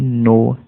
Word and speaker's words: know: डू यू नो, इसको नो पढ़ा जाता है, नाउ नहीं, KNOW, के साइलेंट है यहाँ पर, है ना, कई लोग नाउ पढ़ देते हैं, जो कि नहीं करना है ऐसा, ठीक है।